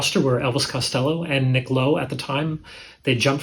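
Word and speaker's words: Kló: released in 1980, and the band is called Chlo, K-L-O, with the accent there, so I believe it's pronounced Chlo.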